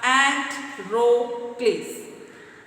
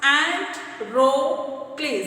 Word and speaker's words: Androcles: Androcles, pronounced as Androcles, was a slave.